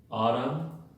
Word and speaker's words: autumn: La 74, MN al final de palabra, la N es muda, entonces se pronuncia autumn, damn y solemn.